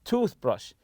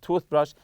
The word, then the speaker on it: toothbrush: except your toothpaste and toothbrush so toothpaste and toothbrush are compound nouns and we stress the part of the tooth you say toothpaste toothpaste or toothbrush lastly here I'll look